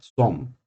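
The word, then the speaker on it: צום: en hebreo se conoce como som se pronuncia son y realmente Es parte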